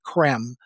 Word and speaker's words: Creme: Primarily from a man named Benjamin Creme, spelled C-R-E-M-E. It looks like cream, but it's pronounced creme. It's like French, right?